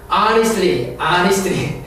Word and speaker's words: honestly: honestly, H를 발음하지 않습니다.